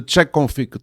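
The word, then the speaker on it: chkconfig: What you do, in order to enable the service, you use the check config tool. So, but it's spelled funny. It's like the chk config, okay?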